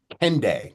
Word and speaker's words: Kendeigh: Okay, So Jane Candy Jane is Candy. actually how we pronounce it.